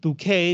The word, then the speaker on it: bouquet: bouquet of flowers hu bouquet it's pronounced bouquet because it's French as soon as I